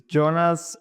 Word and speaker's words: Jonas: name for everyone so they know the exact pronunciation of it it's Jonas ah it was close-ish uh Jonas you heard